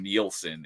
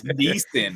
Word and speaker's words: Neeson: I thought it was Liam Nielsen until like high school. So I was like, no, it's Neeson. I was like, oh my god, I've been saying it wrong all these years.